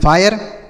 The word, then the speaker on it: fire: जैसे पढ़ के देखते हैं तो इसे क्या पढ़ेंगे, एफ से पढ़ेंगे फा, आई का उच्चारण आय होगा। क्यों, क्योंकि आर ई लिखा है तो फाय हो गया, FIRE फायर।